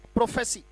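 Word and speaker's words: prophecy: मैंने कहा ना स्पेलिंग पढ़ने में बड़ा आसानी हो जाएगी बेटा आपको, अगर आप शब्दों को, राइट, प्रोफेसी तोड़ के अगर आप करने लगो और उच्चारण को क्लियर कर लो, प्रोफेसी, प्रोफेसी, प्रॉफ पढ़ा फिर ऐसी पढ़ दिया, प्रोफेसी, राइट।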